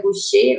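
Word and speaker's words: Gauchet: ele faz muita referência, é francês, então acredito que a pronúncia correta seria Gaucher, alguma coisa assim, Marcel Gaucher.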